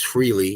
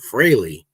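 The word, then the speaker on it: Frehley: He goes, "Not Ace Freely, it's Ace Freley."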